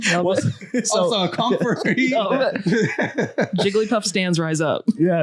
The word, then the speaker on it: Jigglypuff: And then we're like, it's Heliopluff or whatever the Pokemon is called. Girl, what did you just say? Did I say it right? No. How do you say it? Jigglypuff?